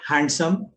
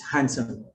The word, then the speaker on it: handsome: Yeah, it's not handsome, it's handsome.